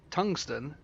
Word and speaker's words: tungsten: Like you've been pronouncing tungsten, and I know it's very, very subtle, but it's like you're doing the first bit as ton, and then you're doing like the G as its own little separate bit, and then the syllables, I guess.